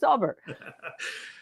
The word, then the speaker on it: Daubert: No, it's not Daubert. It's not. I said just listen to the person whose case it was say his name. He kind of knows what he's called. It's Daubert.